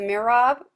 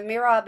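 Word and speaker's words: mihrab: already talked about but the other is the mirab and that's spelled m i h r a b and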